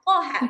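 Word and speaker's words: طه: Misalkan thha ini kalau ee huruf itu sendiri tanpa dibarisin memang thaha bacanya.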